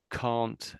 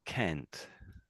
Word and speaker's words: can't: So there's sort of two ways of saying it can't and can't. Can't and can't. Um yeah and I think one tends to be more American than the British than the British. I think the British one is more can't can't.